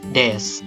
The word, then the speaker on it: des: Nah, apabila ada nada yang diberi tanda mol, itu dibacanya diakhiri dengan S. D diturunkan setengah menjadi des, E menjadi S, G menjadi ges.